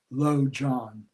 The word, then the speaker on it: lojong: that are called lojong lo means mind and john has a couple of meanings it's spelled l-o transliterated is spelled l-o-j-o-n-g lo john and again uh in